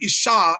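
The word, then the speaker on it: אשה: So ish is man and isha is woman.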